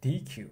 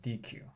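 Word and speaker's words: deque: Okay, so in this slide we have a variation of Q, which is a DQ or DQ. So basically the pronunciation is the same. So it's a little confusing, but DQ.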